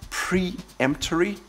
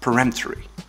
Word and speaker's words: peremptory: much as boring or interesting and it's not pronounced banal its but now 10 peremptory it's not preemptory it's peremptory eleven realtor this can be a false friend